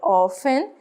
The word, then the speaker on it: often: E aqui o often, esse T não se pronuncia, você fala often, comumente, né?